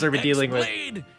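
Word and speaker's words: χ-blade: X-Blade. It's just pronounced like Keyblade, even though it's just one Keyblade.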